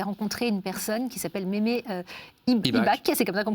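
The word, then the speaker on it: Mémé Ibach: Vous avez rencontré une personne qui s'appelle Mémé IBAC, c'est comme ça qu'on prononce.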